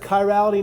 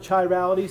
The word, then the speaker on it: chirality: And I probably let it sneak out of my mouth this morning as well, but it's pronounced kyality, not chirality.